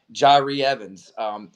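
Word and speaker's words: Jahri Evans: Jari Evans.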